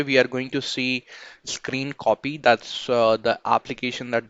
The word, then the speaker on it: scrcpy: as well so basically it is pronounced screen copy and they use like